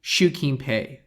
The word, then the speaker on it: 習近平: For example, the President of the People's Republic of China, Xi Jinping, has a name read in Japanese as 中国の習近平国家主席は Xu Qingpei.